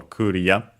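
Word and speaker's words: クリア: So yeah, low, high, low in our case for Korea.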